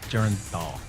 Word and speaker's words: Bernthal: 4, Barenthal. 3. We need a final Oh, answer. John Barenthal. John Bernthal, we can accept that. 2 points. Nailing another pronunciation to get in there.